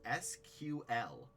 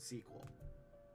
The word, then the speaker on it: SQL: klin is different so the original sequel standard declared that the official pronouncing for squl is SQL too many non-english uh database professionals still use the non-standard pration like the word sequel I refuse I don't care I'm a recruiter I can get the pronunciation wrong I will work to get your name right I will not work to get SQL right it is sequel I'm keeping it a